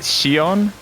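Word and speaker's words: Xion: it has roxus I'm trying to remember the pronunciation of a character's name is it Shion yes okay uh yeah so I've seen cut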